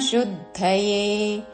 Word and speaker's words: శుద్ధయే: సంగన్ త్యక్త్వాత్మ త్యక్త్వాత్మ త్యక్త్వాత్మ శుద్ధయే తాలవ్యషు పక్కన ద కి మహాప్రాణక్షరము ధవత్తు శుద్ధయే సంగన్ త్యక్త్వాత్మ శుద్ధయే పూర్తి